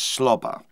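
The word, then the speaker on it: SWLABR: marvelous song right swabbler i think it's pronounced slobber sw l-a-b-r and apparently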